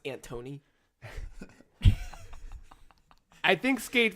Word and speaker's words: Anthony: And I think It's pronounced Antony.